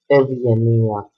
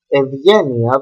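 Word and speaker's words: Ευγενία: So, Vita, Gamma as well, Evgenia, no, Evgenia is a name. Evgenia, that means kindness, we have Ev and Gamma, that is why we pronounce this Ev, Evgenia.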